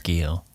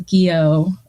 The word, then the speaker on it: Guyot: It's I don't know what's the right pronunciation. I think it's Gio. Yeah, so Stomp says Gio. We'll go with that. So I went to high school with someone with the last name Guyot, and it was spelled that way. So, but I'll go with the French pronunciation of Gio for our purposes. Guyot. Guyot.